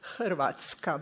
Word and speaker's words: Hrvatska: mean, it is very difficult to pronounce for strangers Hrvatska, because we have a R which makes syllables. Something like in Polish, Plzen and Pr.